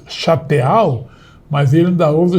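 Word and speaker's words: Château: Aí se pronuncia Chateau, que é o nome francês. O A E o U pronuncia O, a pronúncia fica O, Chateau.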